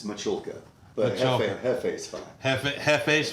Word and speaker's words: Michulka: is our guest Jefe Mahala I just butchered the hell out of it you look at the camera and you tell them what your name is it's machulka but that's okay half